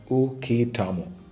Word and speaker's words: Uketamo: Pronounced as UKETAMO.